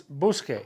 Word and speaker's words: busque: Busco becomes busque. How do you spell the K part? Q-U-E, to maintain the hard C sound of buscar.